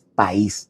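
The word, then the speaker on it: παῖς: eh Pedro se refiere, el término griego es país. Así mismo como se pronuncia país, p a i con acento s.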